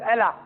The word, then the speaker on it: Allah: It's pronounced as Allah.